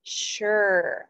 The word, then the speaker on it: sure: be pronounced as sphere but it's actually pronounced more like shh so the word is sure i am sure she